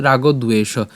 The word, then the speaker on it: রাগদ্বেষ: তা আমরা একসাথে উচ্চারণ করলে কেমন হচ্ছে? রাগদ্বেষ।